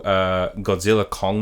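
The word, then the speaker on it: Godzilla x Kong: It's supposed to be like anime where you don't pronounce it, you just go Godzilla Kong.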